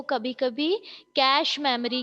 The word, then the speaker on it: cache: कैश memory. कैश है ना, बोलने में कैश, जो रुपए वाला कैश होता है ना, यस मैम। रुपए वाला कैश, तो उसका जो प्रोनाउंसिएशन है वो वही है कैश, लेकिन लिखने में ये